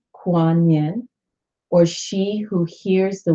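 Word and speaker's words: Kuan Yin: was no other choice kuan-yin pronounce Quan Yin or she who hears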